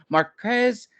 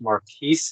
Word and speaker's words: MarQuese: on the show is Marquez little Marquez thank you so much for joining us today and did I say your uh name correctly actually pronounced Maris it's a bastardization from French uh Marquee or mares